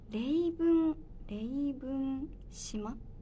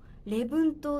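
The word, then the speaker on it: 礼文島: 素敵で、レイブン島、レイブンと合ってるかな、読み方、レブン島ってところ。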